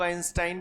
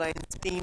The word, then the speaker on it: Einstein: सबका अपना अपना प्रोनाउंसिएशन है। कुछ लोग आइंस्टाइन बोलते हैं, कुछ लोग आइंस्टीन बोलते हैं। जो तुम्हारा मन होते बोलो।